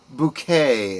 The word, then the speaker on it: Bucket: Uh she played the character of Hyasin Bouquet, as she pronounced it. Everyone else called her uh Mrs. Bucket.